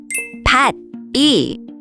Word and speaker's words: 밭이: So it's pronounced 같이. Let's look at some more examples together. 밭이, 밭이, 밭이.